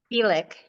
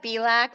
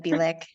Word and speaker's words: Bielik: There's like a Bilac florist around here, so every time they see it, they call me Bilac instead of Bielik.